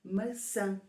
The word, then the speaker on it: maçã: errado Hum vamos ver da maneira como está escrito nós pronunciamos massa que é como pasta mas se escrevermos com um c de cedilha e com um til no último A então vai ser maçã que é o nome